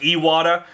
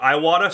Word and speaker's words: Iwata: Yeah, it's actually pronounced Iwata, but forever we always called it Iwata, so I have such a trouble. I have a hard time saying Iwata.